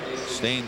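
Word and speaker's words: Stijn: Stain spells his first name S-T-I-J-I-N, pronounced Stain. He's from Bochum, Belgium.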